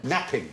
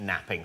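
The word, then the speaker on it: knapping: no but you're right it begins with a silent k what we made early tools what do we make the out of Flint napping napping napping yes Flint napping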